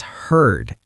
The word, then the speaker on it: heard: It's heard. H E A R D. It sounds like the word heard, like a herd of cows.